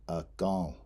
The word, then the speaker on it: akan: So you can see in that stress is on the A. It has a nasal in right before the L at the end of the word. So that in is nasalized, so it's pronounced akan.